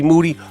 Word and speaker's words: Moody: I get G Moody who's the last name rhymes with duty on the phone I